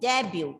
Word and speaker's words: debut: Debut. T is silent and the stress is on the first syllable.